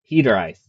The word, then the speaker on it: Hiraeth: Um, so today I thought I would share with you guys uh kind of where testing is at for Hederite as it's pronounced.